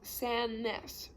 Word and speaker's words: Sandnes: name it's spelled s-a-n-d-n-e-s the d is silent so it's pronounced san ness she wrinkled her nose toward me i know it's weird let me show you around mrs sannis said she reached for